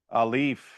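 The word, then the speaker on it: aleph: Alif, okay? And is alif, in terms of its general use, does it make a sound when you say it? No, it doesn't. It's a silent letter, okay?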